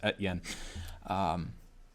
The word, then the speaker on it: Estienne: That last name is Estienne. It looks like SDN, but S is silent, I guess. Etienne.